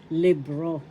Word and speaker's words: libro: In Spanish, libro. Libro. The first syllable is lib. Second syllable is ro. The accent is in the second syllable, libro.